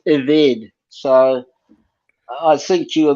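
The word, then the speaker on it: עֶבֶד: Okay, so the word is not ebed, it's pronounced eved.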